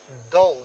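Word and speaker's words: thou: हैं एंड हु आर दाऊ। ये देखिए दाऊ वर्ड है, इसका मतलब इसका प्रोनाउंसिएशन दाऊ होता है, ठीक।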